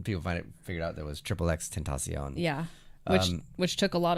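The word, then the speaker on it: XXXTentacion: And then people figured out there was Triple X Tentacion.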